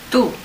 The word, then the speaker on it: tú: Tú. Tú. Okay, rhymes, doesn't it? You, tú.